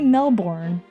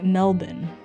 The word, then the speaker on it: Melbourne: Don't say Melbourne because that's what the Americans say. Don't say Melbourne. It's It's apparently Melbourne.